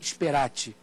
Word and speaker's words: speratae: Contrato de compra e venda, emptio rei sperati. Se escreve speratae, o final A-E, sperati, T-A-E no final.